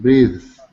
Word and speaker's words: breath: Well, this is another case where the noun is breath, voiceless, th, breath. Breath. But when we create the verb, we add an e and the th becomes voiced. So breathe.